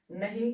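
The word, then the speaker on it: knee: के का उच्चारण हमको नहीं करना है, के हमारा साइलेंट रहेगा। पढ़ेंगे क्या इसको भाई, के साइलेंट हो जाएगा तो ये नाइफ पढ़ा जाएगा, इसको नॉट पढ़ेंगे, इसको नो पढ़ेंगे और इसको नी पढ़ेंगे।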